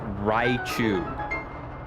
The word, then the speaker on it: Raichu: It's pronounced Raichu.